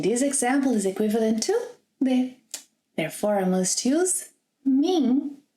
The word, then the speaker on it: de: Porque você está longe de mim. Por que você está longe de mim? I listed here a few prepositions in Portuguese. Let's take a look at them. De, that you can also pronounce de.